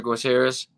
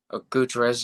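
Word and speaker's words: Gutiérrez: is a good guiterrez roger gutierrez guterres i think is how you pronounce his name big puncher he's a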